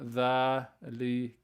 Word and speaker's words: ذلك: Note 1, ذلك is pronounced ذلك with the alif, but it's when you in writing you don't write the alif. So you pronounce the alif sound, ذلك, but as you can